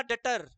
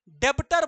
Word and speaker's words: debtor: का spelling DATER, भैया डेटर हो गया वो, ये अलग ही मीनिंग चला जाएगा रे भाई, डेटर नहीं डेटर, DEBTOR, DEBTOR। और इसको बच्चा लोग डेब्टर बोलता है, डेब्टर, डेब्टर, डेब्टर नहीं चिल्लाना है, डेटर बोलना है।